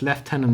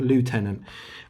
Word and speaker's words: lieutenant: lieutenant and the angst please start pronouncing lieutenant properly is lieutenant not lieutenant um and it asks